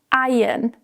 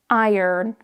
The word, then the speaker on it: iron: iron In the UK, we usually say iron. So, the ah is silent. In the US, it's pronounced more as iron.